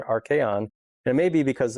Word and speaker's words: archaeon: And it's almost like archon, but it's a archaeon.